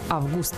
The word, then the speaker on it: Август: Если же мы говорим об имени человека, Август или Августа, то ударение ставится на букву «У».